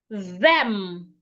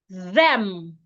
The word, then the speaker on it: them: Them. Remember, your tongue must be outside and ensure you can feel vibration. Them.